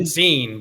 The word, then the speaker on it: Uzin: I don't know the Germans pronounce it Uzin? Utzin, but yeah, you can pronounce it however you want to.